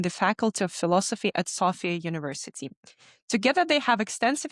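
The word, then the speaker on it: Sofia: Both Swedler and Alexander are studying at Safia University. Alexander is part of the faculty student council of Safia University. Actually, I think it's Sophia, right? What's the right pronunciation? Sophia. Yes, it's Sophia. So, I apologize for this,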